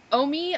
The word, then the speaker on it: Omi: uh it's called Omi it looks like it's pronounced Ami but I watched the video so it's called Omi Omi oh my Omi mini